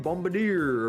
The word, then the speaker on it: Bombardier: The Gungan Bombardier, whatever. Versatile attacker that capitalizes.